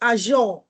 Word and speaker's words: Azure: I clicked try a for free no it's pronounced Azure yes not a then just no wonder um